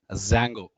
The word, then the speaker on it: Django: Django, actually Django is the spelling. D is silent.